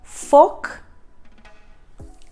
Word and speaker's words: Volk: Similarly, V, the letter V is pronounced as F. V. So the words beginning with V, like one of the words you can see on screen is folk.